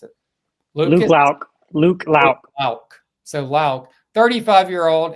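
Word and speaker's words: Loucks: How do you pronounce it? Luke Lauk.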